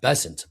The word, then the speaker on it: Bessent: Bessent. Bessant.